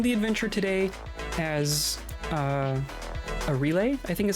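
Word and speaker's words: Arile: but her it's it's a relay is is how you pronounce it I guess um and she's another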